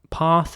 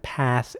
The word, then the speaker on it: path: But what I want to stress here is the A, again, the letter A, and it's usually pronounced like an A in this word. So path in British English and path in American English.